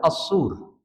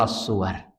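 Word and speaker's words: الصور: Tapi yang jelas untuk kalimat as-sur ada dua model cara baca. Yang pertama yang umumnya didengar kaum muslimin adalah as-sur. Yang kedua adalah as-suwar.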